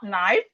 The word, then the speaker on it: knife: Whenever you see K and N at the beginning of the word the um K is not pronounced.